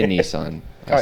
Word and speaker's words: Nissan: I say Nissan. Oh, I it say is Nissan. They say It's Nissan. Nissan. I swear it's a Japanese word and it's definitely pronounced Nissan.